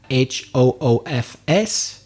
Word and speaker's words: hoofs: possibilities the dictionary said h oo FS is correct or h oo ves and slightly different pronunciation so you can say hoofs with F or hooves with V both are accepted in that case so